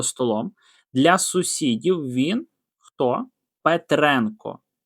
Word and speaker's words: Петренко: Петренко на енко наголос.